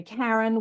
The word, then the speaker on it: Karen: And I was talking about the history of that, like South Africans pronounce the hard A, and Norwegians and Scandinavians pronounce the hard A, the car.